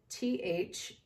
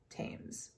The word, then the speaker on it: Thames: near the river thames thames is spelled t-h-a-m-e-s you could call it thames but to my knowledge it is called tames and this led the